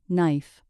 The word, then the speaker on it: knife: Most words starting with K followed by N have a silent K. For example, no, ni, knife.